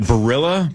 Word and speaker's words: Barilla: You guys familiar with, is it Barilla pasta?